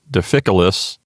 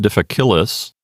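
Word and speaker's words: difficilis: next we have deficiolus again the stress or emphasis is on the third syllable from the end deficiolus it's not difficulus and again this is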